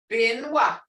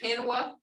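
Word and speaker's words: penwv: Binwa, Turkey. Binwa. I've heard pinwa. Pinwa is not a word, but it's binwa.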